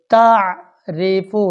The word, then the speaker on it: تعریف: یشہد ترحق قاف ترحق تعریف را کے نیچے زیر آ گئی تو تعریف ریفو نہیں پڑھنا.